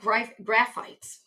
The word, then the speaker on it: Graphites: That looks like graphites. We pronounce it graphites, or at least I do.